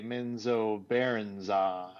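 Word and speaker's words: Menzoberranzan: and I'm chill and now I have to say menzo Baran men it was like someone took his sheet of paper and like really spaced it out and put hyphens and like a pronunciation guy because that's how exactly how was reading it so so I can't even remember how I used to say it before that now it's just menzo Baron on I remember from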